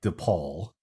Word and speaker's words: DePauw: It sounds like DePaul, but it's spelled DePauw, DEPAUW University, where he was one of 100 awarded the Edward Rector Scholarship, giving him full tuition.